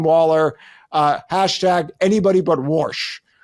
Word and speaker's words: Warsh: Uh hash anybody but warsh. Worsh. What is it called? What do you say? How do you say it, Sarah? It's like wash only. Worsh like from Okay, there we go.